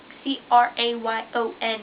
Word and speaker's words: crayon: i say strand crayon it is spelled c-r-a-y-o-n for a reason cray in on crayon one word two syllables okay yeah two syllables and it's meant by god to sound that way right crayon i've heard